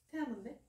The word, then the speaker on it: te amo: 태아모인데? 응. 응? T 아니야? 응. T하고 E. 태아모. 아 진짜? 하나 배워갑니다. 아 맞나? 내가 맞나? 몰라. 아 그게 맞는 거 같은데? 태아모라고 적혀 있었는데? 아 근데 발음이 태.